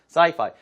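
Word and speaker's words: sci-fi: 주로 구워서 많이 쓰죠 말을 할 때는 saifi 무선 인터넷 와이파이랑 발음이 비슷합니다 그래서 sifi movies I love watching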